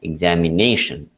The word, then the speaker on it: examination: have typed uh examination the stresses on the third syllable nation fourth syllable so this is also some peculiarity of the english language that is pronounced as examination so this stress is